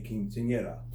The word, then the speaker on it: quinceañera: the girls celebrating their 15th birthday is a quinceanera that's how you pronounce it the celebration of a girl's Cantina